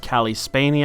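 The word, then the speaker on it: Cailee Spaeny: You have Calli Spainy, I believe it's pronounced, playing Simone, who is a cello player who got into a bit of an accident.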